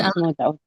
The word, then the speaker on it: Mahmoud: Mahmoud is I'm sorry, did I correctly pronounce this? Yes, Okay, Mahmoud.